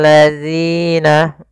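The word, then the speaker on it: الذين: Kemudian di sini pada lafal zina, hati-hati dalam melafalkan huruf zal, jangan sampai terbaca dengan huruf zai. Ini yang sering terjadi kesalahan adalah mengganti dengan huruf zainya. Hati-hati. Agar sempurna dari makhraj dan sifatnya adalah ujung lidah kita tempelkan dengan gigi seri atas, agak kita keluarkan sedikit sehingga berbunyi zi.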